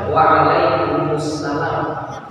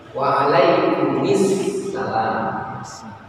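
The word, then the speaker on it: وعليكم السلام: kaidah Waalaikumussalam itu ya sebenarnya jawabnya yang benar adalah Waalaikumussalam boleh bacanya ikut kaidah yang ini tiga hurufti berurus turut maka hurumf pertama dikasih kasrah maka bacanya waalaikumisalam ya Jadi boleh dua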